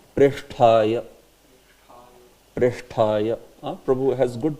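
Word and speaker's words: प्रेष्ठाय: So this one sometimes is said by devotees as Presthaya. Presthaya. It is not Presthaya, right? It is what? It is Sha also. Sha. And then after that it is Tha. Yeah. It is Preshthaya.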